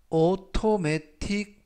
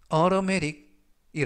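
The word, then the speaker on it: automatic: 가 아니라 르르 그래서 오토메틱 보다는 얼음 에릭 얼음 에릭이 라고 발음 하시면 좋겠습니다 품사는 형용사 뜻은 자동의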